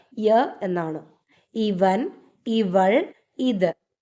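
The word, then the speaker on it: यह: പറയണമെങ്കിൽ ഹിന്ദിയിൽ ഉപയോഗിക്കുന്ന വാക്ക് യ എന്നാണ് ഇവൻ ഇവൾ ഇത് യ ഇനി യഹ എന്നുള്ള വാക്കആണെങ്കിലും ഉച്ചാരണം യ എന്ന് മാത്രമേ കേൾക്കാറുള്ളൂ ഓക്കേ ഇവൻ ഇവൾ ഇത് യ ഇവിടെ ഹ സൈലന്റ് ആണ് ഇനി ഇതിന്റെ പ്ലൂറൽ ആണ്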